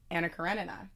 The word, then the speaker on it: Anna Karenina: Importantly, Anton told us that it's Anacarinina.